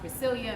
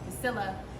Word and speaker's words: Priscilya: I can relate, because I'm Priscilya and people want to call me Priscilla, and that's that other girl over there.